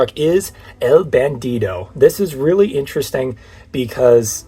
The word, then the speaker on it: El Bandido: because the name is El Bandido and not El Bandito. For those of you who don't know, in English it's pronounced El Bandito, but in actual Spanish it's called El Bandido.